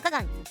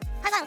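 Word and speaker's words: 可汗: 載のこの漢字を調べると読み方はカガン。遊牧国家の君主の称号、ハガンとも読む。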